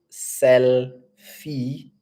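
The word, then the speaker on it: Sellfy: and then we have sell fee it's selfie you know the selfie of taking pictures a selfie but this one it's sell is in your selling so it's s e w l FY selfie and and then Shopify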